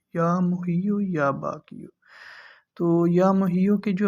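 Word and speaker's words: یا محیی یا باقی: محیو اور یا باقیو۔ یہ تلفظ جو ہے نا یہ آپ نے ذرا خیال سے پڑھنے ہیں، یا محیو یا باقیو۔ تو یا محیو کے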